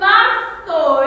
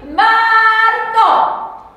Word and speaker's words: marzo: If that Z is a TH, how do you think you pronounce that? Muy bien, that's right, well done, it's Martho, isn't it?